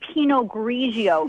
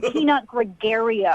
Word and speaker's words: Pinot Grigio: You don't even know how to say Pinot Grigio. It's not Pinot Gregario.